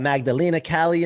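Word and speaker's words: Magdalèna Kalley: c rock i'm in the house i got magdalena cali in the house i think i pronounced that right correct yes you did yeah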